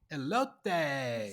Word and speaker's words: elote: Now, I'm not sure how to pronounce this, but it's Mexican street corn. Yeah. So, National Elote Day or Elote Day? Elote.